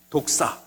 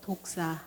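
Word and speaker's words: δόξα: 여러분, 독사. 시작. 독사. 저 사람 참 독사 같네. 그런 독사가 아닙니다. 사람에게 무는 독이든 뱀을 독사라 하지만 여러분, 헬라어 말로 저렇게 쓴 독사, 하나님의 영광이라는 뜻입니다.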